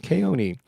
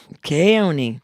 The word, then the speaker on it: Keoni: yeah so and then Hawaiian the E's are pronounced with a long a so K it's K Oni right kayoni kayoni oh there's a Kony